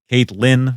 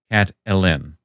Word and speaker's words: Catelyn: Uh, Elaine Stone, Cat Ellen. Kate Lynn versus Cat Ellen. That middle syllable. And there's 2 syllables in Elaine. Thus, the argument here is there should be 2 syllables in Ellen, thus Catalin.